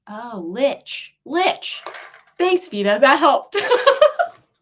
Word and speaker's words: Lich: good we'll see though VA lick rhymes with Stitch oh Lich Lich thanks VA that